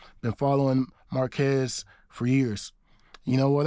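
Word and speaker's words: Marques: you know what else his first name is the same as my middle name it's just pronounced differently it's spelled the exact same his is pronounced Marquez mine is Maris but exact same spelling but anyway let's put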